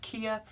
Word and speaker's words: Cija: I know that when I was working at a grocery store when I was young, and my name is spelled Cija, pronounced Kia.